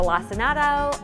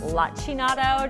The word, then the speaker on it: lacinato: that has many names it's a lacinato or lachinato depending on how you pronounce it it's also known as